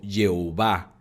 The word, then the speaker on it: Jehová: Así que combinaron YHWH y EOA, lo cual dio Yehová o Jehová, y después se transformó a Jehová cuando se tradujo al castellano.